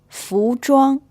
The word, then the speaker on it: 服装: 服装 The ZH or ZH sound is pronounced a little bit like the J in English, and this word means clothing.